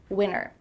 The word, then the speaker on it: winter: Yeah, we're cutting out that T, especially when there's an NT in the middle of a word.